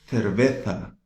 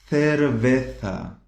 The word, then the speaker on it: cerveza: Se for da Espanha, ela vai pronunciar como se tivesse a língua presa, assim, né? Z, zapato, né? Cerveza, ok?